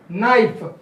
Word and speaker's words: knife: to the third one knife k is the silent we write it but we don't pronounce it so that is the